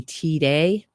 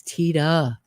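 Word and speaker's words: Tiede: So the reason I'm pronouncing it Tita, I hope I'm pronouncing it Tita. My boyfriend just handed me a note and said, it's pronounced in the movie T-Day, but there's an interview with him where he says, no, it's Tita.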